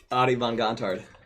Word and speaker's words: Adie Von Gontard: Adie Von Gontard. Von Gontard. Nice. It was, I mean, he nailed it. Hey, when it's spelled, can't tell you how many people butcher.